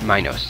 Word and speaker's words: Minos: Yeah, Minos, I think is how they would have pronounced that. Minos was the king of the city where the Minotaur was found.